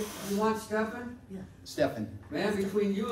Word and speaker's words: Steffin: So Steffin represents the creative me. All right, yes. Steffin. That was released. Yes. Okay, all right. Yeah. From a Russian wife who pronounced Stephen with the PH, Steffin.